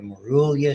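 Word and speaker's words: morula: And so by the time it gets to the uterus, 72 hours, now you have the Marulia stage. That's how you pronounce it.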